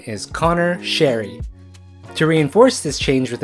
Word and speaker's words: Sheary: While the NHL Pronunciation Guide and NHL 22 still have the pronunciation as Connor Sheary, the correct way to say his name is Connor Sherry.